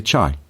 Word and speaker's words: chai: would leave from uh they use the pronunciation t whereas Mandarin Inland they say chai so if you've got